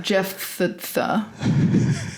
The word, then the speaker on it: Jephthah: And um and uh this is about uh Jeff Tha. You want to spell it for him?